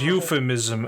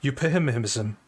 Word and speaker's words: euphemism: However, I would like to know why I have been mispronouncing these PHs as a p and not a f. I read this word euphemism as euphemism.